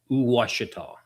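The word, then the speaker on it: Ouachita: with an O, it's Washita County. No way. Yeah. Washita? Yeah, so it's basically like like in French they like we, it starts with OU, so it's kind of like that. It's Washita.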